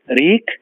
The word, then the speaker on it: wreak: with a grain of salt leak Havoc w-r-e-a-k reek Havoc h a v o c means to